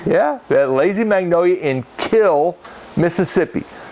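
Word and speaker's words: Kiln: that lazy Magnolia and kill Mississippi spelled k-i-l-n but the original pronunciation of the word was kill and uh and and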